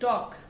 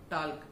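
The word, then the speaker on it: talk: एल के जब होता है लास्ट में तो उसमें हमारा एल साइलेंट होता है, that is वॉक नॉट वाल्क, that is टॉक टी एल के नॉट टाल्क, that is Chowk C एच ए एल के नॉट चाल्क.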